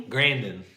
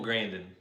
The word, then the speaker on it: Grandin: Grandin. Temple Grandin.